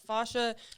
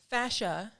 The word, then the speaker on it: fascia: fascia side of that fascia oh she says it fancy i was saying it wrong with her life i said fashion people yeah other people